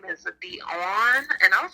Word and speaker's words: Daun: I love how everybody pronounces my name so French. It has the French spelling, but it's Dawn.